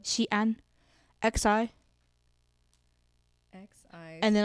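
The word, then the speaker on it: 西安: And like, I would say Xi'an, but other provinces up north. That pronunciation was on point.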